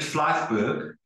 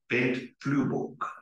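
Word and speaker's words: Flyvbjerg: So I'll start with the incorrect pronunciation, Bent Fleifberg. But I understand that in Danish you say Bent Flueborg, okay?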